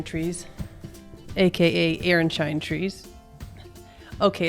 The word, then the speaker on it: Aronszajn: Aaronshine trees. Before we get to Aaronshine Trees, aka Aaronshine trees. Okay, it's not spelled like that, but that's how it's pronounced.